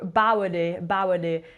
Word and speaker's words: Boadi: I can't pronounce his name. It's Bowardy, and he's like a UK D'Angelo that's been described.